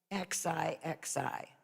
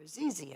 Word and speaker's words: Xixi: name gigi well actually she was named xixi okay and they were calling her azizy and i said that's not how you pronounce that it's g like xi jinping and you know that